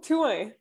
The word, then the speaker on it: Thouin: Oh, Thouin. In French, okay.